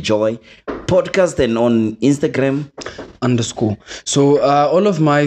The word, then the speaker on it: Undurscor: spelled different from underscore it's still pronounced underscore but with a different spelling and then at Twitter